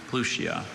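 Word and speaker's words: Pluchea: Plutia.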